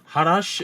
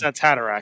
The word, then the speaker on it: Haderach: The Quisize Hadash. That's Haderach. Haderach, thank you.